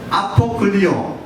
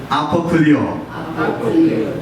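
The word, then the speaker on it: ἀποκυλίω: 한번 발음해 보시겠어요? 첫 번째로 아나쿨리오, 아나쿨리오, 또 아포클리오, 아포클리오.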